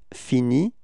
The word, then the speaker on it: finit: Okay, and so pronunciation is still the same, and it's il finit.